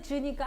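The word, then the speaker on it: 职: 얘 발음이 즈거든요. 직 발음이 즈니까 아예 발음 같은 애 껴 이렇게 된 거예요.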